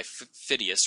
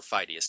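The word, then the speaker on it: Phidias: from about 450 BCE sculpted by phidius or fidus depending on who your your teachers pronounces it and what we have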